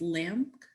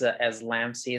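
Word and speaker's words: LAMC: Is this pronounced Lamk? Did I say that correctly? You can. Oh no, it's okay. It's a little tricky to say. It's a tribute to my alma mater, which is like more specifically my experience at my old college, which is Los Angeles Mission College. I actually pronounce it as Lamsey, so it's okay, because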